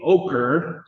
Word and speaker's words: Oquirrh: So um the the district that I'm uh the director of is the Ochre, that's how you say it, Chris, Ochre Recreation and and Parks District.